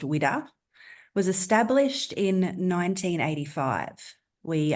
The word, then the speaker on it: WWDA: women with disabilities Australia our acronym is pronounced widda was established in 1985